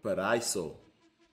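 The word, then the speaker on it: Paraíso: Paraiso. That's how you say it.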